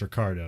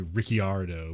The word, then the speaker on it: Ricciardo: ricciardo and it's like it's okay it's ricardo because i guess his dad's italian so like in italy he'd be ricciardo but like in australia